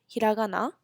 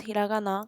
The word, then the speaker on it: hiragana: have three major writing systems which are called hiragana Katakana kanji hiragana and Katakana are basically um called the Kana system is the pronunciations of the words so if you wanted